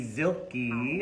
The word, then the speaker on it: Zilke: And I am with second show of the day, the beautiful Zilke.